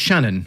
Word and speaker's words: Channon: so yes Michael Roger so it's pronounced Shannon is it Mike Shannon yeah he scored over